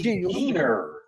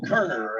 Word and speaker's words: Keener: 17, Lexi Keener, not Kerner, as I pronounced earlier.